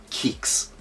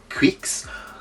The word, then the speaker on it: QIX: And if I'm honest, there was one game I wanted this for, and that was Kicks. Is that how you pronounce it? Quicks. QIX. Now, Quicks or Kicks, I'm going to call it Kiks.